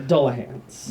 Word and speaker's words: Dullahan: more Dullahans What? How do you spell that? mounted on horseback. Dole like Dole Whip? D-U-L-L.